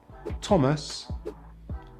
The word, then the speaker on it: Thomas: Sometimes the H is silent in TH, such as Thailand, time, asthma, Thomas, and the Thames, as in the river in London.